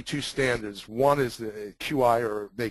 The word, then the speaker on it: Qi: standards one is the QI or they call it it's pronounced Chi and the other is